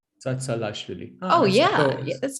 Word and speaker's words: Tsatsalashvili: So first, second part are the same. It's Tsa Lashvili. Tsa Lashvili. Tsatsalashvili.